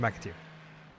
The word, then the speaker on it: McAteer: Mac-A-tier. But all as one. So McAteer.